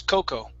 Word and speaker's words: cocoa: Instead of cocoa, the A at the end is silent. The word is cocoa.